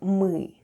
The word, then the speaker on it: мы: Let's have a look at the spelling of the word МЫ /mêê/: the first sound is /m/ and then we have Ы /êê/ and all together it's МЫ /mêê/, which is Russian for "we" Let's spell the word ПЬЁМ /p'yom/.